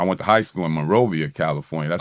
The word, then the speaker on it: Monrovia: but I I went to high school in Monrovia, California. That's like a not really a suburbs of Los Angeles, but it's a it's a part of Los Angeles outside the city. Okay. Morovia.